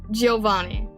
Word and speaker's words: Giovanni: The I is less pronounced. Giovanni. Okay, so it kind of slurs a little bit. Giovanni.